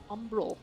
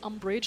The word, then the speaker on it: Umbral: Umbral. Umbral. I always want to say umbrage like Harry Potter.